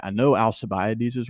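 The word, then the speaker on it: Alcibiades: I'm saying that second name right I know alabes is right because I looked it up because it's spelled crazy some ancient name but um alabes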